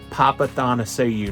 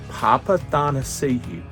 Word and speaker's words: Papathanassiou: Hey, it's your host, Rick Houston, and this week's interview is with Andy Papathanassiou. Yes, that is how you pronounce it, Andy Papathanassiou.